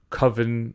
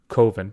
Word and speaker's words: coven: and there's potentially like a coven or kovin depending on how you pronounce it of which is in